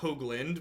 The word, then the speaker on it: Hoagland: definitely capable as is my last name is pronounced Hoagland with a long Oh sound in thank you